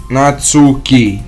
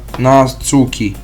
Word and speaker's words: Natsuki: help me all right it's Nat Nat natsuki not natuki natsuki made cap C